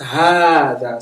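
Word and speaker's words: هذا: So it tells you Hada is pronounced Hada. So you see, it put the alif clearly.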